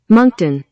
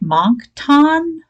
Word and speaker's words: Moncton: trying to pronounce this i'm like monk ton it's like trying to say worcester worcestershire worcester sauce worcestershire sauce it just doesn't work that way so there you go